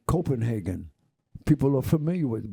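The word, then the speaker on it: København: Like some people say Copenhagen. People are familiar with it, but in Copenhagen, they don't say that. They say Copenhagen.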